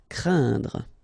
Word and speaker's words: craindre: So it's quite interesting here because you've got this combination of letters, so A, I, and then N, okay, so it will be a nasal as well, and then it will be pronounced like un, so keep in mind that it goes in your nose, so you don't hear any N when I pronounce it, and then C plus R will produce the sound cr, craindre.